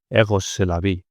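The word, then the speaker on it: Rrose Sélavy: más y sería con 2 Rs Rose Selavi pronunciado en francés Egos Selavi, que es que la vida es erotismo.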